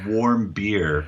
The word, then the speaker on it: Warmbier: special guest, my man Matt, and I can't pronounce his last name, so I apologize. That's okay. Most people can't. It's warm beer. I know. Like, what's warm beer, right?